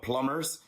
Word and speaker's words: plumbers: job called plum bean no we don't say the B the B is silent but plumbers and plumbing come from